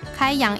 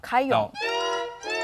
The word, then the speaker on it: 開陽: 以前广东菜用量很多，是他们用广东话去发音是开阳。那我不会说广东话了。开阳。